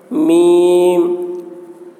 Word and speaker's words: میم: میم, میم کے تلفظ میں بھی حرف مد ہے, وہ حرف مد یا ہے اور یا کے بعد میم ہے جو ساکن ہے. تو حرف مد کے بعد والے حرف پر سکون ہے, اس لیے مد لازم حرفی مخفف ہوا.